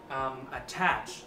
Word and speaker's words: attach: Và từ thứ tư mình muốn giới thiệu với các bạn ngày hôm nay đó là chữ attach. Đây là một động từ và nhấn âm 2, ok?